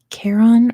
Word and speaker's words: Charon: It is called Charon or Charon, however you want to pronounce it.